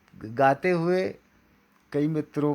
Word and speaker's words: हे: यहाँ पर भी देखो जितने भी हे हैं उन्हें मैंने लाल रंग दिया है, क्योंकि यहाँ पर भी लिखते समय है ऐसा होता है, गाते समय भी है होता है और पूरा मजाक बनकर रह जाता है।